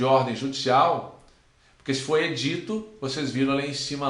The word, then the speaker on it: édito: judicial, porque se for edito, vocês viram ali em cima lá, que ó, nós temos o edito, edito que é lei, edito é lei. Agora, édito já é ordem judicial.